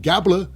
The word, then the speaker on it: Gable: the alpha Academy it's Chad gabbler rhymes with Tabler No One by their